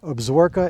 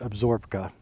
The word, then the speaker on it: Absaroka: Absaroka is, I'm told that's how it's pronounced. It looks different on paper, but Absaroka, I think, is correct.